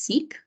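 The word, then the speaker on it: sic: This word is pronounced seek. It means so or thus.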